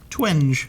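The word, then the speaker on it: Twenge: don't know how to say her last name twangy 20 twe nge twinge twinge okay so she wrote this really fascinating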